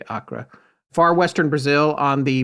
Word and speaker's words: Acre: 1960s he shows up in Acra spelled like acre but that's how you said to say it Kinga so I'm saying it that way Acra Far Western Brazil on